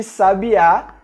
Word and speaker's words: sabiá: Por exemplo, as palavras sábia, sabia e sabiá têm pronúncias bastante diferentes, e é exatamente o acento que nos indica como devemos pronunciá-las.